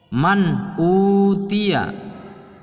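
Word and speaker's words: مَنْ أُوتِيَ: Man utia, tulisannya man utia, bacanya pun man utia, karena suara nun mati atau nun sukun apabila bertemu dengan hamzah itu hukumnya izhar. Maka nun mati ini harus dibaca jelas.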